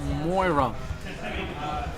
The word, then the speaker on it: Moira: Why do I keep saying her name wrong? I'm terrible. Moira.